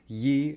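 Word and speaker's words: 一: rather than sounds so the character for one is generally pronounced as Y in standard Chinese yat in Cantonese and eat in hokan the second reason people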